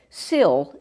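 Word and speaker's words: сіль: And if, like, the word sil is salt. It's a 3-letter word. C-I-L, the C is always pronounced S.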